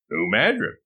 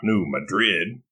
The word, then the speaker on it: New Madrid: Note, although Missouri did previously belong to Spain, New Madrid is pronounced New Madrid, not New Madrid, like the city in Spain.